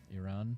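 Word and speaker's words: Irán: It looks like it's Iran, but it's got the accent above the A. Iran Yeah.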